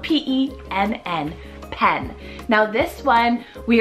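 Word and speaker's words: Penn: Moving on to the letter P, we have the name Pen, spelled P-E-N-N, Pen. Now this one, we are back again with another one-syllable name.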